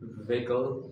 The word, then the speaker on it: vehicle: Many people say vehicle, vehicle. This is called vehicle, vehicle, vehicle, vehicle, vehicle.